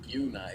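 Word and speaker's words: Bjuna: Looks like we have a Fate of Bungia casted on the Demigryph Knights. Yeah. I don't know the name of the spell. Yeah. Fate of Buna, Yeah, is how it's yeah.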